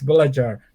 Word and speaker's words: Belajar: Indonesian soul brother because on your YouTube channel, Belajar Rusia Indonesia, which you can say later the proper way, Yeah. which has Well, actually, you pronounce it great. oh, so it is Belajar. Okay. Yeah, it's Belajar.